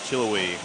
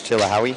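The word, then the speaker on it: Chilhowie: lot and I've been I've been pronouncing it wrong the entire time. How have you been pronouncing it? Uh Chil uh Chilowi. Chilowi. Chilowi. But it's Chilihawi.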